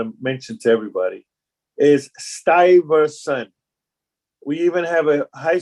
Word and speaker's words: Stuyvesant: And the pronunciation of the name of the town, I want to mention to everybody, is Stuyvesant.